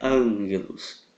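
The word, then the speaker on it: ἄγγελος: N na palavra Ok então quando houver dois Gamas subentende-se uma letra N depois da letra Alfa Ok então a pronúncia correta é angelos exatamente dessa forma daí temos também na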